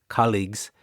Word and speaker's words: colleagues: So, the stress is on the first syllable, colleagues.